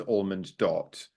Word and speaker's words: ALMONDot: letters without of space so it's obviously supposed to be read as almond dot but yeah it's spelled